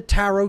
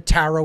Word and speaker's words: tarot: and that is the tarot itself okay it's a phonetic equivalent t-a-r-o the last t is silent then a-r-o-t arot i